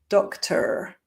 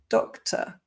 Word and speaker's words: doctor: So I don't say doctor, but doctor. All the words ending OR or ER, the ending turns into the sound. So doctor. Of course, there are many